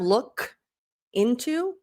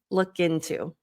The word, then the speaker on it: look into: master classes about that, it's going to link when you have a consonant sound followed by a vowel sound. So instead of look into, look in, look into. It's a subtle difference, but it makes a big change in how it sounds and also how fluid it sounds.